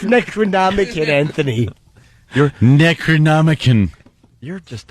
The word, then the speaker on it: Necronomicon: It was It's pronounced Necronomicin.